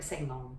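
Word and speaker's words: 成龍: This pronunciation in his name, same character but pronounced Sang. Okay, Sang, Chan Gong Sang. Or Seng Long, okay?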